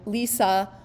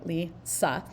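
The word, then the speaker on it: Li Si: Okay, Lisa, that's how it's pronounced, by the way, Lisa.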